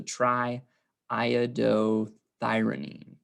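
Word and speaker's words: triiodothyronine: iodo thyronine or T3 so Tri and then you pronounce that other I so Tri iodothyronine or T3 for short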